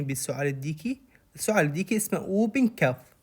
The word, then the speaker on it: whooping cough: اذا سمعاني بالسعال الديكي، السعال الديكي اسمه اوبن كف. لا تلفظون الدبليو اتش، يكتبوها اوبن كف، يعني تقروها اوبن كف، الدبليو اتش ما تلفظ.